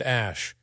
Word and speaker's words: Æ: the letter X then AE is pronounced Ash and a12 well that